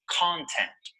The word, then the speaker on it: content: look at them now the correct pronunciation of this word is content notice that the stress is on the first syllable content content this noun